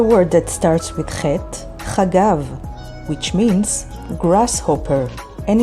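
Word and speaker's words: חגב: Here's another word that starts with Chet, Chagav, which means grasshopper, and it's spelled with Chet, Gimel, and Bet.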